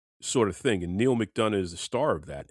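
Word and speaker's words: McDonough: Mcdana.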